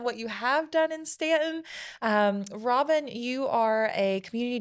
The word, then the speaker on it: Staunton: Welcome back to the U is Silent, We Aren't podcast by Visit Stanton right here in Staunton, Virginia.